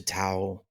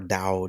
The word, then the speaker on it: Tao: the yogis he was into Tao and or Dao depending on how you pronounce it and then he got